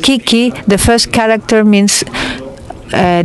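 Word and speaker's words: 危機: wanted to say that in Japanese and also in Chinese the world crisis which is pro uh pronounced Kiki the first character means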